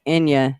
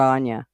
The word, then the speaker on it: Ina: It's Inya, not Anya.